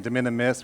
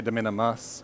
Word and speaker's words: de minimis: in Utah, and so instead of saying de minimis, we say de minimus, and so I always spell it wrong.